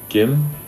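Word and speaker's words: 김: namjoon now all right Kim the first letter in is good which is close to a G but when you put it in someone's last name it's like a K the second letter is e we'll write that as a nine and the third letter is mm-hmm just like an M so altogether it's Kim Kim Kim Kim Kim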